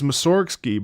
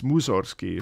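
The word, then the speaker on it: Mussorgsky: I thought it was Msorki, but it's Muzorkski if the if I if I recall.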